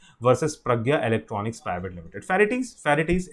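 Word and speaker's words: Ferrites: फेरिटीज इट्स फेरिट्स बोलते हैं इसको शॉर्ट में, वैसे प्रोनाउंस कैसे करते हैं, फेरिट्स।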